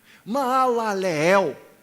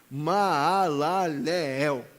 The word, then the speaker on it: Maalaleel: Maalaleel, é assim que deveria ser pronunciado corretamente. Maalaleel.